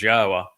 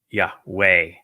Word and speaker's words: Yahweh: He was the one who recognized that the proper pronunciation was God's of God's name is Yahwa not Yahweh. So that or Yahwa so that you can